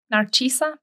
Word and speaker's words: Narcisa: P, so that's perfectly acceptable, but you would pronounce it, Narcisa. Okay, Narcisa, that's how it is, Narcisa.